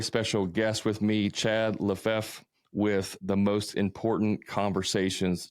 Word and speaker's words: Lefevre: Is that right, Lefevre? Lefevre, yeah. Okay. Yeah. I'm always like terrified I'm going to say somebody's name wrong, and I've done it before.